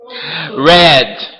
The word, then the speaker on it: read: Passado de read é red. Red, que não tem nada a ver com red, a cor. Ele bota aqui a marcação. Só para dizer que a pronúncia é a mesma.